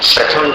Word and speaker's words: प्रथमं: प्रथमम ऐसा मत बोलिए, प्रथमं जिनेन्द्र, अंजन जैसा उच्चारण।